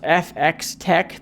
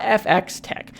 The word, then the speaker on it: FxTech: makes it i guess it's pronounced fx tech there's the f and then the x is in parentheses and then t e c k so i guess we're going to call it fx tech but basically they have